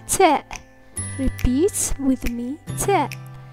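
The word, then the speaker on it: ت: Repeat with me, ta. The letter ta is pronounced like the clear frontal English t in tech.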